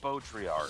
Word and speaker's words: Baudrillard: It's pronounced Baudrillard.